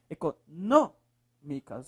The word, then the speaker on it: econômicas: econômicas Olha lá econômicas Qual é a sílaba mais forte professor é o n econômicas é o nó econômicas última penúltima antepenúltima